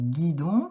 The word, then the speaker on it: guidon: Alors, dans guidon, qu'est-ce que tu entends au début? Le son g.